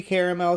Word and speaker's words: caramel: how you pronounce it it should be caramel cuz there's an a in the middle I guess if you spelled it car and then Mel it makes more sense but whatever uh the